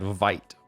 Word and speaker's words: Vite: part of the question is have you tried vite before if so any thoughts another one i've